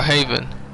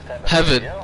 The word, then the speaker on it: Heaven: Lost Heaven Airport, or Haven. Heaven. It's spelled Heaven, so I'm going to keep saying Heaven. But I thought it was Haven for a minute.